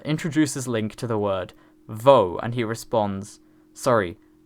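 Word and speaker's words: voe: link to the word vo and he responds sorry bow Risa then chastises him for not pronouncing the word correctly telling him to bite his lower lip as he says it this means that canonically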